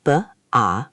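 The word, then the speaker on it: 八: Make sure your ah sound is open and clear, almost like the ah in father.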